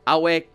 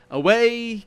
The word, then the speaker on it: Ave: Awe Kaisar. Of course, I pronounced it properly. They don't, so I would need to say, Away Kaisar.